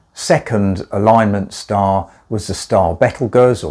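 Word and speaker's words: Betelgeuse: alignment star was the style battlegrounds or beetlejuice if you like to pronounce it that way in orion and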